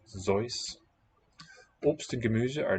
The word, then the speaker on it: Seuss: By the way, have you ever heard that Dr. Seuss wanted it pronounced Zeus?